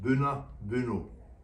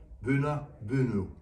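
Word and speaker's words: Boonoo Boonoo: animals to provide food, pronounced Buna Buno. We're sure if you try you can say it too, Buna Buno, Buna Buno.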